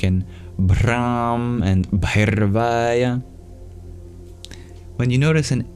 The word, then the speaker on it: Bhairavaya: For the R, if you want to master the trill, you curl your tongue back, like in Brahm and Bhairvaya.